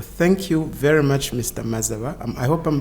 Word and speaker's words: Mazaba: the future well thank you very much Mr mazawa I hope I'm pronouncing your name yes no you've got it